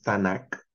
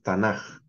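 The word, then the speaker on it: תנ״ך: La CAF es una de las letras que en hebreo cuando se escribe a final de palabra toma esta forma y suena J. Por eso no tenemos tanac, sino tenemos tanaj.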